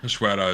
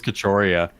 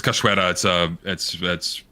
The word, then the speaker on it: Cachoeira: Cachoeira is how you pronounce it. Remove it. Really? What is I thought it? it was Cachoeira. No, it's Cachoeira. It's waterfall, and I forget what language.